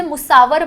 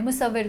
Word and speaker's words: मुसव्विर: जैसे मुसावर बोला उन्होंने, मुसव्विर को, तो जो तलफ़ुज़ था वो उनका रॉन्ग था।